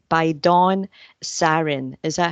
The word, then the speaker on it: Zarin: gamblers in the world Mr C by Don sarin is that how you pronounce it yes it is okay is a